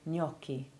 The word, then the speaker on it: gnocchi: rare exception being signage words beginning with gn almost always have silent g as in nor and useful if you like pasta the italian gnocchi the rather specialist words gnostic and gnosis also keep their g silent but one splendid exception